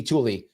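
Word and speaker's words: Thule: not THU it's written tul uh THU but pronounced Tulie used to be Tulie before there was space force I think I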